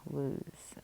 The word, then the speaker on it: lose: we have loose and lose. Okay. This does have kind of that ooh sound, lose. And we have that silent E here, so it doesn't look plural, right?